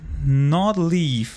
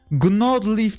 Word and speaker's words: Gnawed Leaf: Gnawed Leaf diye okuyacağız.